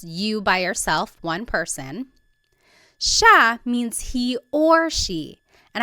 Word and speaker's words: siya: It looks like it should be pronounced siya, but it's actually pronounced siya, siya.